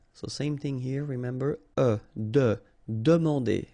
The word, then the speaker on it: demander: So same thing here, remember, demander. And here you've got this nasal here, A-N, en. Demander.